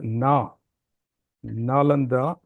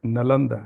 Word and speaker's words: Nalanda: nalanda university incident Al the nalanda has to be pronounced as Na nalanda and not nalanda as it is usually done uh especially in the southern parts of India so I did work